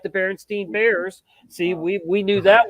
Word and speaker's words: Berenstain: Everybody can say Stain, but when you see AEI in, you don't know if it's Stein or Steen or what.